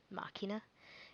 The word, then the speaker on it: Machina: it um the connect the correct pronunciation is uh machina because that is what you